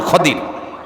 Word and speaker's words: খদির: খদির মানে যেটাকে আপনারা খিজির বলি আমরা খিজির। এটার সঠিক উচ্চারণ খদির।